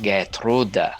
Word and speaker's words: Gertrude: from different places um gertrude in english is probably not pronounced the same way that it would be if it was pronounced in german it would be like gertrude something like that german is our way